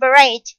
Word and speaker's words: parade: And parade with the stress on the second.